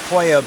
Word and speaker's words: Pollo: on the speech and that's why it's called poyo beach but yet it's spelled pollo beach I don't know there's